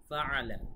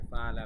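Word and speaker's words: فعل: আলাম তারা কাইফা ফাআলা, এখানে আইনের উচ্চারণটা আপনাদের খুব ভালোভাবে খেয়াল রাখতে হবে। অনেকে ফাআলা বলে, ফাআলা বলা যাবে না, ফাআলা, আইন গলার ভেতর থেকে।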